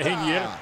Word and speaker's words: Reinier: Tá escrito errado. Reinier, velho. É Reinier. Acho que você assim que pronuncia também.